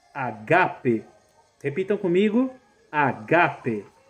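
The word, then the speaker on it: ἀγάπη: A leitura correta é agape, não ágape. Em grego, o acento está na segunda sílaba, no segundo alfa.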